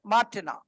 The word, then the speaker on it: Martinez: Z is silent, Martina.